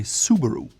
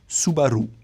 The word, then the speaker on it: Subaru: You can tell Americans or English speakers will put the emphasis on the first syllable and say Subaru. Now a Japanese would say Subaru. The R is rolled on the R, and the emphasis is more in the middle.